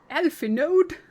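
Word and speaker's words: Alphinaud: Alpha Node. I hate that they pronounce it like that.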